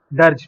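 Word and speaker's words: dirge: गाया जाए उसको हम दर्ज बोलते हैं। दर्ज प्रोनाउंस दर्ज करते हैं, बट इसको दर्जी, अगर देसी भाषा में बोले दर्जी, तो डियर जी, डियर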